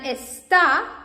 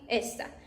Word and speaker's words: está: And está, like this, is she is, he is, está, because it has this accent, and when you pronounce it, you can see está. But esta, like this one, like here, it means that, like means this one, esta, this one, esta.